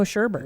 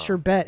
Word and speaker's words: sherbet: thing there's no sherbet there's no sherbert sherbet there's no there's never been a sherbet no dude it's sherbet and americans have been saying it incorrectly apparently it's almost sure bet and we've been saying it wrong see sherbert or sherbet